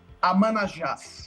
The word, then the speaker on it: Amanajas: We are now connected with the man himself, Igor How do I pronounce Ayas? How to pronounce it? Ayas? Your last name? It's Amanajas.